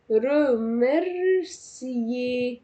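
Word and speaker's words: remercier: يشكر شخص رمرسيي، الأو ار مش هتتنطق، او الار بمعنى اصح مش هتتنطق.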